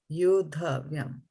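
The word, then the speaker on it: योद्धव्यम्: Yod, yoddhavyam. Kair mayā saha yoddhavyam. No. Yod Yod, yoddhavyam. not vayam, vyam. Vyam. Why is it vayam? Right? Vyam. Vyam, right? You have been pronouncing it as vyam all the time that we did today.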